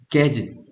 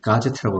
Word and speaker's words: gadget: 동사에 put together가 붙으면 gadget, 장치입니다. 장치. 얘네 가제트 형사 들어봤습니까? 만화 가제트 형사. 네. 일본인들이 발음이 안 돼가지고 gadget을 가제트라고 하는 겁니다.